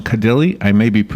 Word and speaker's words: Kadile: Kadile, good morning, doctor. Good morning, Larry. You pronounced my name correctly.